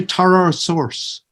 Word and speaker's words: tartar sauce: fish and chips would tell me how to pronounce tartar sauce you've got to say torah source because people not on